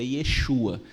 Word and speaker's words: Yeshua: a pronúncia do nome a pronúncia correta do nome do Senhor Jesus é Yeshua assim como ele era